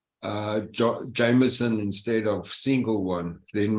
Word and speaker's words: Jameson: Yeah, I'd rather after the US markets open, take a double J Jameson instead of single one, then maybe there's more clarity for me.